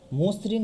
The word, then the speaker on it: মসৃণ: আমরা দেখতে পাচ্ছি মসৃণ, এই বানানে ম এর পরে কি হয়েছে, ম ও প্লাস ঋণ, অর্থাৎ অধ্বনির পরে রিকার রয়েছে, যার কারণে এর উচ্চারণ কেমন হয়ে গেছে, উচ্চারণ হয়ে গেছে সংবিত ও এর মতো, মসৃণ।